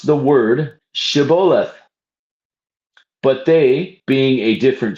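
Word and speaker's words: Shibboleth: the Ephraites passed that way that they should pronounce the word Shabolith. But they being a different tribe pronounced it Sebolith.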